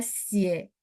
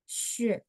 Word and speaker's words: 血: Ada yang baca xie, ada yang baca xue, tapi rata-rata baca xie.